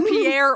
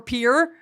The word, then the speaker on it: Pierre: Well, well, no, cuz I knew it was either Pierre or Pier, but it's Pier because Pierre would be normal.